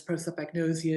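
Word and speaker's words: prosopagnosia: Pro like you're for something. Soap, nice and clean. You're for cleanliness. Agnosia, there's a lot of those. That's the easy part.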